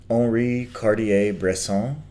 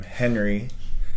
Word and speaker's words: Henri Cartier-Bresson: And in fact that's the French, he is French, and that's the French way of saying his name. If you want to call him Henry, that's fine. But in French it's Henri Cartier-Bresson.